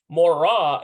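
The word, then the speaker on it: מוֹרָה: a moray okay see notice the subtle different sound at the end it's like a uh for masculine ah for feminine in Hebrew but in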